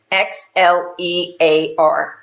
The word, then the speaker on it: Xlear: It's spelled with an X, Xlear.